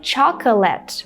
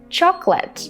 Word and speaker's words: chocolate: So instead of saying chocolate with 3 syllables, you should say chocolate.